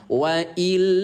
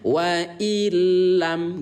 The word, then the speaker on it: wa illam: Artinya teman-teman tidak boleh melafazkan dengan kata wa illa, itu tidak boleh ayah bunda. Ingat, bila guna artinya tanpa ditahan. Ya, maka lam yang bertasydid bacanya dengan lebur saja. Bacanya dengan lebur. Ya, bacanya wa illam gitu. Coba ikuti bunda, wa illam, udah gitu doang. Jangan ditahan bilang wa illam, nggak boleh ya, nanti merusak makna.